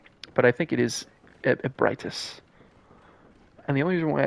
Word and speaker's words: Ebrietas: Augur Ebritus, or I think it's pronounced Ebritus. I remember the first time I ever heard the name was like I was watching a YouTuber and they said Ebrietas, which is cool.